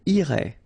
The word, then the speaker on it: irait: Irait, final T not pronounced.